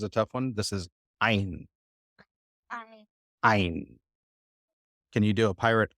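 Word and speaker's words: Ayin: another one that stops this letter is silent it's as a silent letter so we have two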